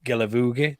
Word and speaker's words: Guilavogui: on his video, and it rhymes very well with boogie. So I think that the song should have been, I put it, We Can Boogie Guilavogui, the song.